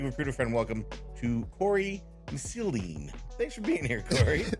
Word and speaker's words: Missildine: I want to give a big Recruiter Friend welcome to Cory Missildine.